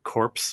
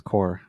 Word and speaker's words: Corps: well it's yeah but that's what you pronounce corpse as core i think i'm gonna say like french i thought i'm pretty sure when we were kids we said corpse every time we saw that word probably i did i